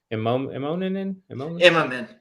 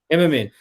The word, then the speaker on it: Immonen: don't know how you say his name, but Immerman. Immonen.